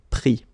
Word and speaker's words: pris: Final S not pronounced, so prendre, pris.